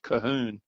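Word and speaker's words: Colquhoun: will spell co l qu h oun but pronounce Cahoon and there is a clan Cahoon society in the in the US and internationally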